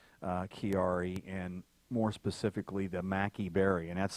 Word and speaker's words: maqui: of the maqui berry that has incredible potency.